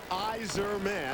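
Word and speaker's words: Yzerman: The best part about this is not Barry's mustache, but the pronunciation guide. Eyes man.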